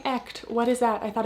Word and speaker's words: Echt: And if you're wondering, why is she saying ECHT? What is that? I thought it was etched. It's actually pronounced ECHT.